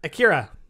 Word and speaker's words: Akira: We are going to start off with Akira. Is that how you pronounce it?